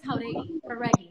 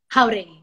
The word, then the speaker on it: Jauregui: By the way, my last name is Jauregui.